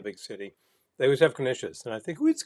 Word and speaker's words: knish: city, they always have knishes, and I think, who eats knishes anymore? But you know what? They're kind of delicious. A knish itself is just Knishes rhymes with delicious.